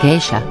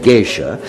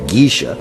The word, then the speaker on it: geisha: any area you wanted the americans had heard the word geisha and immediately pronounced it gisha and thought that the girls they slept with in the parks were gisha girls well they were certainly